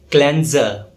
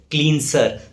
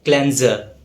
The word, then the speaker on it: cleanser: Yes, it's pronounced as cleanser. It is often mispronounced as cleanser or cleanser, but the correct pronunciation is cleanser.